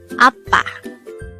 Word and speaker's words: 아빠: word number 133 APPA this is pronounced as a two syllable word the first syllable is a second syllable is PA APPA the word APPA is